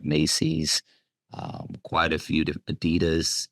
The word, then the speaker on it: Adidas: um quite a few Adidas Addy Don if you understand how to say it properly um so we deal